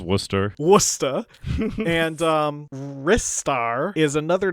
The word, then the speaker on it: Ristar: Though one oddity is that Sega Power has it clearly stated that the game should be pronounced Ristar, which I think is just wrong. It's pronounced Worcester.